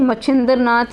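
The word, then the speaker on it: मत्स्येन्द्रनाथ: गोरखनाथ के गुरु अब ये आ गया है मत्स्येंद्र नाथ। इसे मच्छिंद्र नाथ या मत्स्येंद्र नाथ, ये इनके एक ही व्यक्ति के नाम है, लेकिन इनको अलग अलग उच्चारण से बोला जाता है।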